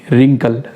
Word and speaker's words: wrinkle: चौथी example WRINKLE, रिंकल, रिंकल यानी झुर्री।